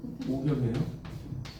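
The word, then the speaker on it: 五更: 이거 갱이라고 읽으면 안 돼요. 이때는 경이에요. 오경이에요.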